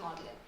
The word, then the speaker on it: Magdalene: And I think about access in the unspoken rules here like when I wonder why Magdalene is produced pronounced modeling.